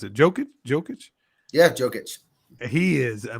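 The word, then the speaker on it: Jokić: the Lakers and is it how do you pronounce it joking jokic yeah jokic he is I mean he you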